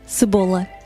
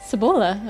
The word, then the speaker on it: cebola: In Spanish, it's cebolla. How do you say it in Portuguese? Cebola. Cebola. Okay, pretty close.